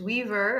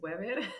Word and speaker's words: Wever: In English, Weaver, I used to say, and in Spanish is Wever.